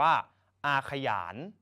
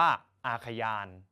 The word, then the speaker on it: อาขยาน: คำ นี้ นะ ครับ สามารถ การ ออก เสียง ได้ 2 อย่าง ครับ อย่าง แรก ออก เสียง แบบ ห นำ คือ อ่าน ว่า อาขยาน แบบ ที่ 2 อ่าน แบบ ไม่ มี อักษร นำ ครับ อ่าน ว่า อาขยาน นัก เรียน สามารถ เลือก ใช้ ได้ ทั้ง 2 แบบ เลย นะ ครับ